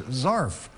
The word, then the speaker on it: zarf: Zarf. What do you think a zarf is? Well, it rhymes with a scarf.